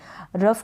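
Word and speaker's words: rough: रफ का मतलब होता है उबड़ खाबड़ या खुदरापन, उबड़ खाबड़ या खुदरापन।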